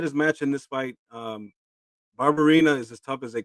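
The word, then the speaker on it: Barberena: Barbarina. Oh, Barbarina.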